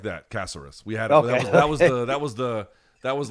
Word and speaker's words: Caceres: How did that lady at the store pronounce Caceres? Just like that, Caceres.